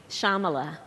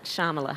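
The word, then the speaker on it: Shyamala: the name of your mother Shamala so the why is silent Shamala Shamala yeah Shama let go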